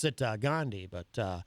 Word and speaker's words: Gandhi: I pronounce it uh Gandhi, but uh Archie Bunker on All in the Family used to pronounce it Gandandy.